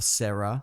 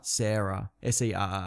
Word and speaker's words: Serra: Or Sarah. Serra. Oh, I see. Yep, I get it. Yeah. I often look up pronunciations for videos because that's another thing that people are like, that's not how it's said.